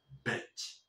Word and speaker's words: beach: Porque la otra cosa, la con la que siempre te equivocas, se pronuncia beach. ¿Ves? Más grave. Beach, beach. Sí.